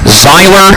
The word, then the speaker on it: Zyler: number one sour grapes zyler Maxwell and that first name is spelled z y l e r like Tyler except it's spelled with a z zyler Maxwell on the